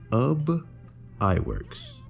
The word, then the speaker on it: Ub Iwerks: by and I hope I'm saying this right, Ub Iwerks. They say his name is spelled U B but it's pronounced like tub, sub, or bub. So, it's Ub Iwerks.